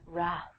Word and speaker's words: wrath: Wrath, famously, the Wrath of Khan. I have no idea what The Wrath of Khan is, but I will tell you that the W is silent, so don't say it.